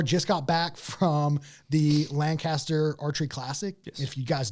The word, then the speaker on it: Lancaster: those that don't know you actually pronounce it linkter Linker something like that that's how they pronounce up there's linkter L linkter Lan Lancaster but everybody says Lancaster if you're not from there that's just their their